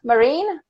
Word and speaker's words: Marine: this Jana and I think wait am i pronouncing your name right marine yes perfect I might say yours right Erica